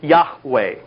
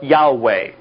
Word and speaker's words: Yahweh: My name is The Hebrew letters are Yhwh pronounced Yahweh or Yahweh.